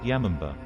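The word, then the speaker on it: 山姥: in the mountains and is often pronounced yamamba it is said that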